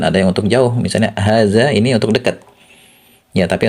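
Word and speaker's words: هذا: Jadi ditulis dengan harakat pendek tapi dibacanya panjang. Hadza gitu.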